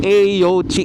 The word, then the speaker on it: AOOCCI: Sa mga hindi pala alam ah, yung pagbigkas pala dito sa Aochi yung A oci is Aochi yan.